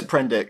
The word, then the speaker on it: Prendick: Because when he meets Isis, she goes it's Prendick. Prendick, I pronounced right.